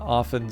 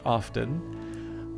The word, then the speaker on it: often: turns out that the they did actually allow for both both pronunciations and I can see the arguments both ways because I think um I think most people would agree that of you know oft would would have the t uh pronounced and so